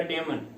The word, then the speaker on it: damn: में लग रहा है, देखो तो DAMN, तो एन थोड़ा सा साइलेंट रहेगा, डेमन।